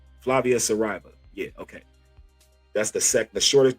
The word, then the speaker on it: Saraiva: Because nice, I can't pronounce her last name. Dang, oh boy, I need to learn Portuguese. Yeah, Flavia Saraiva. Saraiva. Flavia Saraiva.